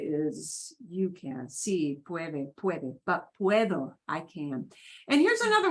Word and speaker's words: puedo: you know whatever puedo puedo and notice we hear all of those sounds the u e both the u e pronounced it's a diphthong they Glide together puedo okay that kind